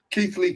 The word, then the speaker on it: Keighley: Keighley Cougars. Yeah, I thought it was something else. Keighley. The old Keighley Cougars. Keighley, that's what I was going to say, brother. After Keighley Cougars, man.